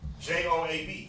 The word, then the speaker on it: Joab: The names, so like Joab, Joab, Joe, comma or hyphen Ab.